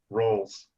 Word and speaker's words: Ralls: Ralls. Like calls. Falls flat on his face. Falls R instead of F. Ralls.